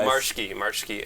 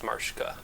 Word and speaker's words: Marsche: So Marsche, and then the German pronunciation is Marschke. Okay. Which that one makes a little less sense, but that's the German way.